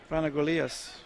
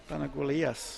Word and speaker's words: Panagolias: Panagolias. Panagolias. Thank you. Panagolias. Panagolias. It's as simple as that. Panagolias is the Greek pronunciation.